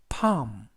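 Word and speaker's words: palm: 그리고 대형 리무 금이 되겠고요 때문 뭐 그래서 파 음 파 음 이라고 발음합니다 뜻은 선 바닥 이라는 뜻을 가지고 있습니다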